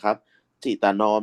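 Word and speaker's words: จิตน้อม: และ ตรึก ใน จิตนอม อัน นี้ อ่าน ว่า จิตตะ นะ ครับ จิตตน้อม นิยม ชม ควร ที่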